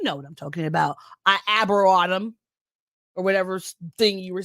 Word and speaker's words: Arboretum: That word just doesn't seem like it's pronounced there. There's a T there. Arboretum.